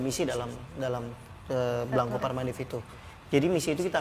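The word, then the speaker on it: Blanco par Mandif: Restorannya salah satunya ada di Ubud, namanya Blanco Parmandif, bener nggak aku pronounce-nya?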